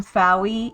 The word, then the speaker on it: Fowie: Hi everybody, I am Fowie. It rhymes with Wowie.